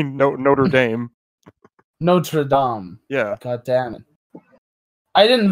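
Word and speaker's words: Notre-Dame: ] Cathedral in Paris and say Notre Dame Notre Dom yeah damn it I didn't learn a second language to say y'all can mispronounce it now I'm fluent in English and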